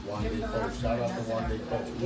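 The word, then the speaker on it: Wande Coal: How you pronounce his name again? Wande Cole. Wande Cole.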